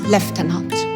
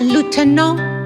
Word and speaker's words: lieutenant: pronounce the word lieutenant between British accent is pronounced lieutenant Marianne was trying so hard to get me to the right pronunciation but I didn't get it finally to make me understand she said you see in French is pronounced lieuteno and I was my